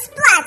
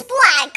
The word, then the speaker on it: Splack: My name is not Splat, it's Splack.